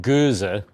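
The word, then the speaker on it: Gose: that it is in fact Goza.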